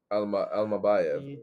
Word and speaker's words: Almabayev: And then in that main event, Manel Cop against Asu Almabayev.